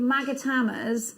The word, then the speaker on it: magatama: here you've got your magatamas and they are your long magatamas it sounds wrong when i say magatama even though i know that's how you say it these are great